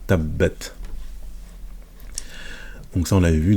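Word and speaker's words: تبت: Donc ici on a la shadda, pardon, j'ai dit la soukoun, c'est la shadda avec la fatha, tabbat, ta. Donc tabbat.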